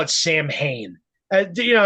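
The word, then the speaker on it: Samhain: I'm gonna call it Sam Hayne you know there people that that say saman yeah and I guess that's like the real way to say it like Danzig always said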